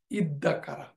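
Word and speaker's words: اِدَّكَرَ: হয়ে এটা হচ্ছে ইদ্দাকারা এই দালটা পরবর্তীতে এই জাল দালের সাথে এসসিমিলেটেড হয়ে তার উচ্চারণটা হচ্ছে ইদ্দাকারা হি রিমেম্বার এটা হচ্ছে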